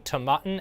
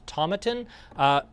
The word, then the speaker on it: Tomatin: matin by the way i'm going to switch back and forth between tamaten and tomatin either is technically correct i just go kind of back and forth between the two but either pronunciation is more or less correct at 55.5 this will